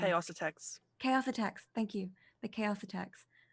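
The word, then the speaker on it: Xaositects: I say it completely wrong but they're the South's attacks I can never pronounce the name a AUSA Tex chaos attacks thank you the chaos attacks yes so not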